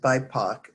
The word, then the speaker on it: BIPOC: and white supremacy and bipoc is uh call is pronounced by poc that was the author's pronunciation it stands for uh